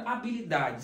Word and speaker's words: habilidade: Na palavra habilidade, será que temos dígrafos? Se você notar a palavra habilidade, se você tirar o H, é como se a palavra existisse normalmente. Habilidade, você não pronuncia o H.